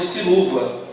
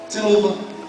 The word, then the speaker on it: Siluva: Bom, depende do tipo de pessoa, mas na verdade a gente entende como Nossa Senhora de Silúva. Silúva.